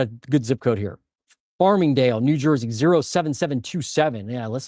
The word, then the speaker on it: Farmingdale: And that is Farmingdale. Is that how you say it? Yeah, Farmingdale, New Jersey.